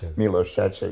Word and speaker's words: Milos Sarcev: mi LLS share CV nobody can really pronounce it it's me low stretch it yes but that's the